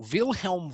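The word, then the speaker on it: Wilhelm: first let's talk about vilhelm V and it's important to pronounce him that way the v's are PR the W's are pronounced with a V he is known as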